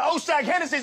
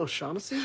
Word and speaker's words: O'Shaughnessy: Now take your ass on down to Oshag Hennessy's office right now and tell him exactly what you did. Who? Oshag Hennessy! Principal O'Shaughnessy?